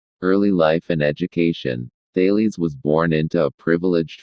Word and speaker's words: Thales: his name we say ty Lee's emphasizing the first syllable there may have been other scientists before Talese but if there were we do not know their names early life and education Daley's was born into a